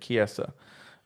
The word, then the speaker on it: Chiesa: Chisa? It's something like that. Chiesa. That's how you say it. Chiesa.